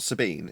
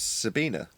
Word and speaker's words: Sabina: people self reference so it's not Sabine it's Sabina oh okay we've been